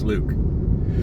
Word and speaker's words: LuK: Because I was like, Luck, or is it or is it like Luke? Turns out it's Luke.